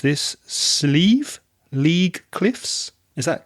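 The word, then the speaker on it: slieve: should point out that the word sleeve is nothing to do with the arm on your shirt which could be a sleeve s-l-e-v-e this sleeve is spelled s-l-i-e-v-e because it's the irish word for a mountain or amount now there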